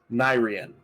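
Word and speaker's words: Nairean: for my notes yes nyrian n-a-i-r-e-a-n almost like the second half of the plane's name of Kevin Nair it's all coming together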